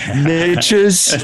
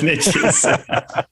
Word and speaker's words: niches: Oh, the niches. Niches. Very American, my friend, very American. Yep. For everyone else outside of the United States, it's called niches, or whatever, however you want to pronounce it.